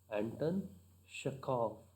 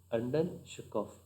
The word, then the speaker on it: Anton Chekhov: Anton Chekov. At the end it ends with V, but it should be pronounced as F. Anton Chekov.